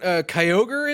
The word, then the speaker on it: Kyogre: Also in the Pokemon Go front, Kyogre is back. Kyogre is back. He's back. Now you say it. Yeah, it's Kyogre.